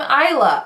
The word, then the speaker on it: Isla: page 2 it says most people call me is locked but I'm Eila island without that and it's literally on